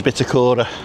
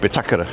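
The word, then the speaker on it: Bitácora: Lots of people call it the Bitakora. But it's pronounced Bitakara because of the little Bitakara. tick on the A.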